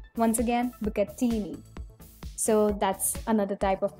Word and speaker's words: bucatini: It is spaghetti kind of pasta, but a little more thicker, and there's a hole running in between, and it's pronounced as bucatini. Once again, bucatini.